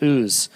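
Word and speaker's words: Uz: the Hebrew who hails from the land of ooze okay it's a weird word and for some reason those two letters are strange for us to say but it's a place called oo he was blameless and upright he feared God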